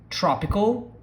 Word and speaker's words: tropical: See that we do not do the L song, we do more like our U song, which is tropical, tropical. Nobody says tropical, tropical, even though it ends with an L.